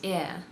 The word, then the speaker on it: heir: In a few other words borrowed from French, the H has remained silent, as in honor, honest, hour, and heir.